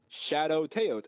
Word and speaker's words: Shawdowtaot: You can find me on Instagram and this is the worst way to pronounce it, but it's the way to pronounce it, Shadow Teot, SHAWDOWTAOT.